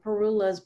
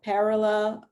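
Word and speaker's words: parula: like the pileated pileated you can pronounce it three different ways so perula parallel and um i forgot the other way but it's a tiny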